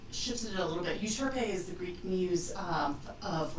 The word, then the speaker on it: Euterpea: It's Euterpea. Euterpea. Okay. Euterpea. I was close. I was going more towards an oi. Yeah, it's like Utopia, except I've shifted it a little bit. Euterpea is the Greek muse